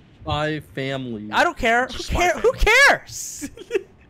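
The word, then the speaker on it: Spy × Family: And for me, you don't have to pronounce the X. Spy X Triple X Family. No, it's Spy Family.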